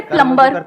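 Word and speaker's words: plumber: सर जैसे प्लम्बर, सब लोग प्लम्बर प्लम्बर बोलते हैं हमारे देश में, बढ़िया है यार, क्या दिक्कत है? बी साइलेंट है उसमें। प्लम्बर ही तो होता है।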